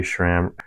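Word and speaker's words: SRAM: I found some you Shram Shram Rivals it's funny funny how everyone says Shram like spelled like this Shram and my local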